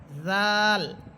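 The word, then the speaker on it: ذال: টেনে পড়তে হবে দাল জাল জাল জিহ্বার আগা সামনের উপরের দুই দাঁতের আগার সাথে লাগবে দালটা লাগবে গোড়ার সাথে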